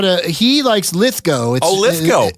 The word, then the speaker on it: Lithgow: It's Judd Apatow and John Lithgow, so it gets very confusing when they're running around with the same spellings at the end but different pronunciations. Didn't know that. But for some reason, Lithgow goes with go, and he was on with Paul F.